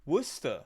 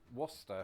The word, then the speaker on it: Worcester: Worcester. There's a Worcester in Massachusetts. Okay, that's an interesting one. I wonder how it's pronounced in Massachusetts as well.